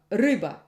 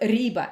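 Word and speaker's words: рыба: It's For example, the Russian word fish, ryba. Ryba. We have r, and then after r goes u. Ryba, ryba. It's not riba, it's ryba, ryba.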